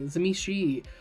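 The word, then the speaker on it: Tzimisce: He says Zemeski. There's a great video of asking White Wolf people at a convention how they pronounce it. If I get people correcting my pronunciation or telling me that it needs to be pronounced Zemishi, I'm going to lower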